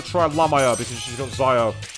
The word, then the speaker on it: Zio: llama because she's got zio or should i say zeo because it's pronounced i always say xyle for some reason not